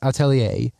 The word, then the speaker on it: Atelier: much anticipated Witch Hat Atelier. Yes, that is how it's pronounced, I just looked it up.